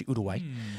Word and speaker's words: Uruguay: To be completely honest, if we did USA versus Uruguay, that's how you pronounce Uruguay, by the way. Everyone says Uruguay, it's Uruguay.